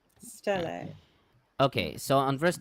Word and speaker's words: stele: I think people say Steely or Steel, or Still or Steely. Yeah. Either way, the thing is, we all know what we're talking about, Yeah. so I don't actually care how people pronounce it. Okay, very good. Yeah. I think it's more American. As to say everybody Steely. should.